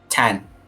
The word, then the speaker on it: Thanh: Than, how do you say your name? I don't want to mess it up. Tan, Tan. THANH.